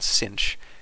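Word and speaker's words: sinh: H on the end and they're pronounced Kosh and cinch and I've just defined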